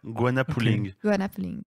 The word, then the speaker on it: Goanna Pulling: Alors, vous allez faire une interview sportive sur le, alors j'espère que je le prononce bien, Guanapolling. Donc, G-O-A-N-N-A, polling. pulling comme tiré. Ah ouais, Guana pulling.